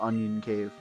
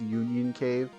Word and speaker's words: Union Cave: this going into the onion cave It embarrasses me to remember how long it took me to figure out it's pronounced Union Cave I they didn't understand